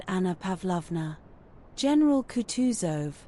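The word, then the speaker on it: Kutuzov: General Coutus, said Bolconsky, speaking French and stressing the last syllable of the general's name like a Frenchman, has been pleased to take me as an aid to Kong.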